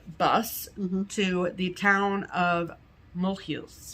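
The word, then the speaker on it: Mulhouse: Then we took a bus to the town of Mohu. Mhm. Looks like Mole House in English, but it's pronounced Mous.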